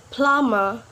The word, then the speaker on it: plumber: letter is letter b we not pronounce the letter B when it follows letter M for example like climb boom dumb plumber yep we not pronounce the